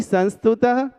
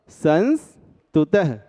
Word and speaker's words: संस्तुतः: अब ना ही संस्तुतः और ना ही समस्तुतः, शुद्ध उच्चारण के लिए अनुस्वार सहित मतलब आधे ना के साथ आधे सा तक बोलिएगा, संस्तुतः। अब सकल मत बोलिएगा, बोलिएगा शकल।